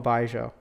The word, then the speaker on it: 白酒: ration yeah so the next is strong Aroma baijo which is a very good Cherry good pronunciation so this is the most popular by